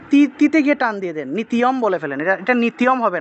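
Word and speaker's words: নিত্যম্: এটাকে অনেকে নিত্যও বলে ফেলেন, নিত্যও হবে না, নি তারপরে ত্য, নিত্য, নিত্যম, নিত্যম, এইভাবে হবে উচ্চারণটা।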